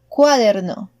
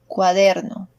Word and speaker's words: cuaderno: It is not cuaderno, cuaderno. The proper way to say it is cuaderno.